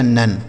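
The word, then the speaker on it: none: न हो गया एन ई से न लिखा नन ठीक है यानी इसको आपको लिखना नहीं है बस उसका उच्चारण वहां पर निकलेगा आ के रूप में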